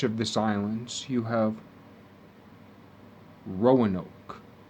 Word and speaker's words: Roanoke: the middle stretch of this islands you have roanoke spelled rey on oak and pronounced row on oak but if you fall that string a lot